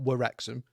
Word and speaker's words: Wrexham: with a W at the front and Ryan spelt with a W at the front to just show the fact that it's not Wrexham to the I've American not noticed audience.